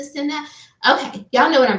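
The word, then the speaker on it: Cenat: Kai Sinet. I think I was saying it wrong. Every time I say it, my kids do. It's the net, Mom. It's the Sinet.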